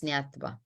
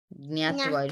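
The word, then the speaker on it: ज्ञात्वा: Nyatva. Nyatva. Nyatva. Okay. It's J. So it's the J is silent. So it's Nyatva. Nyatva.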